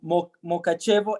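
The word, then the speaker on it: Mukachevo: main bases is again is it called mokachevo m-u-k-a-c-h-e-v-o can somebody help me with that no we're all good so i'll say whatever we're good at the right pronunciation yeah that's correct oh wow there we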